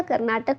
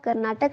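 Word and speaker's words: Karnataka: अच्छा, कल किसी ने बोला था कर्नाटक को आप कर्नाटक ना बोले, कर्नाटका बोले। तो देखिए इंग्लिश में जब हम बोलते हैं थोड़ा डिफरेंस हो जाता है प्रोनाउंसिएशन में किसी स्टेट के। जैसे केरला है, हम हिंदी में उसको केरल लिखते हैं, है ना। कर्नाटका इंग्लिश में है बट हिंदी में हम उसको कर्नाटक ही बोलते हैं ना।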